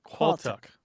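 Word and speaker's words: Qualtagh: that word is qual now let me explain it's spelled a little bit strangely it's qu a a l t a g h quck yes and the reason it looks weird is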